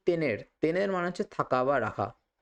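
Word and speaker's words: ver: দার মানে হচ্ছে দেওয়া এখানে একটা জিনিস দেখুন যে ভি রয়েছে না ভি এটা কিন্তু ইংরেজির ভি এর মত উচ্চারণ হচ্ছে না এটা কিন্তু বি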